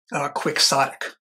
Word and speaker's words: quixotic: The Brits must have introduced it because they pronounce it in the British way without trying to do the Spanish. Quixotic.